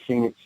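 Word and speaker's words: Fenix: know uh phoenix ammo you guys familiar with phoenix oh no not no and it's spelled f-e-n-i-x ammo okay a big supporter of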